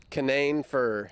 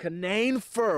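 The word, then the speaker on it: Canaan fir: But the Canane fir is really the most popular tree that we can grow on our farm. Why is Canane fir? And that's Canane, how you say it? Canane fir. Canane fir.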